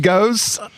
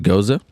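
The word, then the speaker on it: gose: Grenadine Ghost. with notes of grenadine. Is that how you say ghost? Goze? I think it's actually pronounced Goza. Goza.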